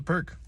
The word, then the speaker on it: Pirc: beginning I'm like oh it's called the perk how do you spell it oh it's p i r c it's like oh sweet